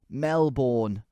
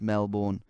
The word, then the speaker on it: Melbourne: Melbourne Mel oh you hate that don't you Mel borne even though the original place in England is pronounced Mel Bourne no it's Melbourne if ever you mispronounced that